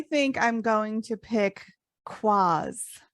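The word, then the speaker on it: quoz: q-u-o-z but it's pronounced quas and it means an absurd person or thing okay and i think this is a cool word because it reminds me a little bit of spazz okay how fun would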